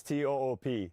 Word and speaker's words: Toop: No, I'm pretty sure it's toop insurance. Uh Maybe toop eh. Could be toop eh. Yeah, I don't know. Or toop insurance? Maybe? No, I don't think so. Say it right. That's t o o p. That's toop.